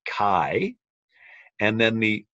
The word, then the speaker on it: chi: Greek pronunciation of Christ and the letter that makes the cut sound is written as a big X and that X is named Kai and then the sound